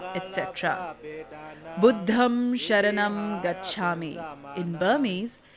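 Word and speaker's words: Buddhaṃ saraṇaṃ gacchāmi: They pronounce tha instead of sa and sa instead of cha, etc. Buddham Sharanam Gacchami. In Burmese, it's pronounced as Buddham Tharanam Gassami.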